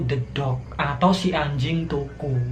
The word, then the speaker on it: Toco: atau si anjing toko tulisannya itu to c bacanya toko.